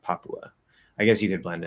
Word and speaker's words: Papua: few countries okay so papua new guinea papua it's not really blended like that papua i guess you could